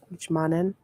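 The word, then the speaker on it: 一万: The 10,000 yen bills, ichiman yen bills, ichiman. There we go. Like, why did I pronounce the Y in Japanese? It's not there in Japanese.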